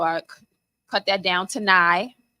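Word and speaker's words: Nye$: So I cut that down to Nye, NYE, $, the $ is silent.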